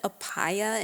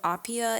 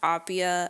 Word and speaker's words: Appiah: I also want to mention that in the last episode of this podcast I said aaya instead of aia. It's pronounced aia so I guess I wasn't listening that well